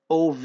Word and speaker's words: of: خلي بالك لو أنت أول مرة تعرف إن دي بتتنطق OV يعني. الاف هنا نطقها V, of, ما بقولش of. Of اللي هي double F, O double F, لكن دي بتتنطق of.